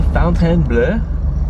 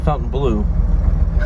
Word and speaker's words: Fontainebleau: This is the Fontainebleau. If you notice, it's not the Fountain Blue. B-L-E-A-U.